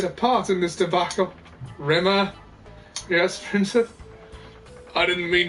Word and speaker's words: Rimmer: She called me Rimmer. That's your name. It was the way she always said it. A Rimmer. As to rhyme with scum.